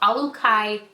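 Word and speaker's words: Olukai: First is a pair of Alukai shoes.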